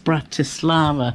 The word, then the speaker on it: Bratislava: There's an I between the T and the S. Bratislava.